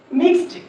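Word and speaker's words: mixed: मिक्स ई डी ड यहां पे हमने पढ़ा था क्लास में कि ई जो है ना ये साइलेंट है। यहां पे हम इ डी का जो साउंड प्रोड्यूस करेंगे वो हमेशा ड साउंड प्रोड्यूस करते हैं।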